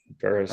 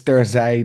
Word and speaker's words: Terzij: Terzij Okay, so it's Terzij de Horde. It's a it's a the I sound is difficult. It doesn't really exist in English and you all know it's all about this as a linguist.